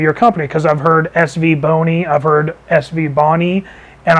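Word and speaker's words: SVBONY: so I asked her exactly how do you pronounce the name of your company because I've heard SV Boni I've heard SV Bonnie and I've heard savonia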